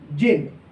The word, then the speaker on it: zein: चौथे नंबर पे आप लिख लीजिएगा जिन। जिन, इसकी स्पेलिंग होती है ZEIN।